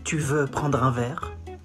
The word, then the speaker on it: tu veux prendre un verre: You say, tu veux prendre un verre? Tu veux prendre un verre? Tu veux prendre un verre. Comes from the throat.